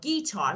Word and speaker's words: guitar: Yeah, but guitar, let me say something.